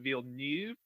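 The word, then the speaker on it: Villeneuve: tarantino i love edgar wright i love disney veal neve yes that's a french name and i pronounced it perfectly um i love action i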